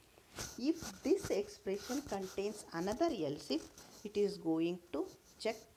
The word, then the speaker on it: ELSIF: Remember that here else if actually we are pronouncing it as a else if, but the spelling is ELSIF in the VHDL.